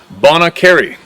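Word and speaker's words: Bonnet Carré: was traveling on Interstate 10 westbound over the bonnet car Spillway pronuncation Bon Cary I was sitting in the left rear Pastor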